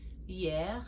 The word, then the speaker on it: hier: Hier, that H is silent. hier, yesterday.